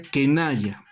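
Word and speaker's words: qinaya: El otro ejemplo, se escribe quinaya pero se pronuncia kenaya.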